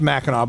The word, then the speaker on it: Mackinac: you agree right it's Mackinac Bridge it's it's pronounced Mackinac but it's spelled Mac an AK and the